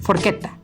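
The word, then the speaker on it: forchetta: quiero de esa eh También quiero que noten algo en la última sílaba de la palabra forqueta tiene una doble consonante y en italiano se hará una pequeñita pausa Así que quedaría algo así de forgetta bueno no lo hagan tan pronunciado forqueta algo así otro ejemplo está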